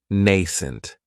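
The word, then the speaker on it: nascent: adjective is nent and this word has two syllables and the stress is on that first syllable it has the long a sound nent that second syllable has that schah nent if something is nent then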